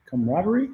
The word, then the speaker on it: camaraderie: Uh, was it Katamari? Is it camaraderie? Camaraderie. That's how you say it.